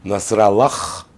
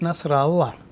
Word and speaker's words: Насралла: Ну, а почему-то Насралу они произносят как Насралах. А, для того, чтобы звали. Да. Господа, по-настоящему он звучит Насралла.